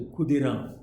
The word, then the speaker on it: Khudiram: It is pronounced as Khudiram in Bengal.